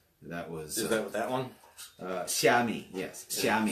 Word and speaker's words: Xiaomi: Xiaomi, yes. Xiaomi. It's spelled with an X. Yeah, Xiaomi. So Chinese lesson. An X, when you see an X in Yes. Chinese, Let it's me actually a ch sound, right?